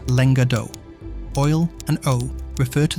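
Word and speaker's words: lenga d'òc: The word is pronounced in the region as lenga d'oc.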